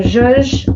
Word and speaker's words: zhuzh: Yeah, so zhuzh, I spell it Z-H-U-Z-H.